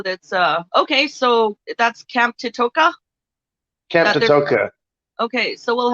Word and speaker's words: Toteka: Toteka? Is that how you say it? Camp Toteka.